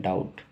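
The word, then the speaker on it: doubt: क्या डाउट बोलते हैं नहीं बी का प्रोनाउंस नहीं करते सिर्फ बोलते हैं डाउट डाउट डाउट मतलब संदेह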